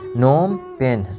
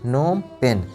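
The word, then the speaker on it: Phnom Penh: Next है Cambodia, नोम पेन, यहाँ पे जो पीएच है ये साइलेंट है, ये साइलेंट है, ठीक है, इसका प्रोनाउंसिएशन नहीं है, नोम पेन, नोम पेन, नोम पेन।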